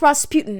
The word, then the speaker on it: Rasputin: I don't know actually, but his name is pronounced Rasputin in the movie.